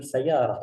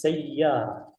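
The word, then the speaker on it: سيارة: Unzur, perhatikan cara pengucapan sayyarah, jangan sayyarah, la, lakin bis sayyarah. Tahta apa? Fawqa ya, di atas huruf ya ini ada tasydid.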